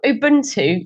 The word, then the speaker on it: Ubuntu: So tell us about, I'm going to pronounce this wrong, I'm sure, Ubuntu or Ubuntu? Oh, Ubuntu, yes.